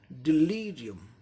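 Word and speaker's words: delirium: ठीक इसके पहले ली आ गया, ये सिलेबल यहाँ जोड़ देना है। तो इसका उच्चारण क्या हो जाएगा? डिलीरियम, डिलीरियम, डिलीरियम।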